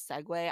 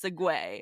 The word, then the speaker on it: segue: really quick that I definitely know that the pronunciation of it is segue I was just kidding so for any of